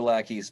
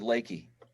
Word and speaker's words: Lakey: Some people think we're lackeys, but we pronounce it Lakey.